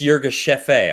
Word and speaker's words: Yirgacheffe: And how do you pronounce it too? Yirgacheffe? Yirgacheffe, yeah. It's Yirgacheffe.